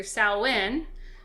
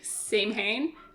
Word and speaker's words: Samhain: i know it's so you say sally it's either salwin i say say maine even though i know that's not right and i was talking